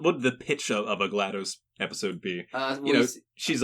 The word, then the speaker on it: GLaDOS: be in charge of it's GLaDOS it's a short a because it's supposed to sound like glattus yeah uh like what